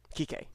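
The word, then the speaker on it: Kiké: Kike, yeah. Enrique. It's how it's No, pronounced.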